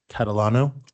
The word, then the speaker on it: Catalano: And just so I get it right, Catalano?